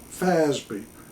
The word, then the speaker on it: FASB: Financial Accounting Standards Board also known as fby fasb pronounced Faz and promulgated as Accounting